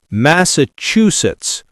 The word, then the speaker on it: Massachusetts: Massachusetts. Four syllables. Stress on chew.